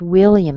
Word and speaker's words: William: All right, I see the word William. This is a really good one. Okay, but again, will is strong, and then the A on the end, it's a schwa. So it sounds like will yum.